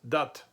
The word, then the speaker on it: das: So very common in many northern German dialects, this word das would be pronounced dat.